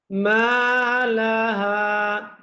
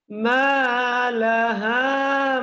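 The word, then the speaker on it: مالها: উচ্চারণ হয় লাল ইনসানুমালাহা মনে রাখবেন যদি আলিফ জবর মা তারপর লাহা তাহলে এগুলা হচ্ছে এক আলিফ লম্বা হবে এক আলিফ লম্বা হবে এখানে কি হবে এক আলিফ লম্বা মালাহা এখানে যদি আবার দেন মা আওয়াজটা কিন্তু এভাবেই হবে মালাহা মামা মা এই হচ্ছে এক আলিফের সহি উচ্চারণ এক আলিফ দীর্ঘ করার সহি পন্থা তারপর ইমাম হাহাদিস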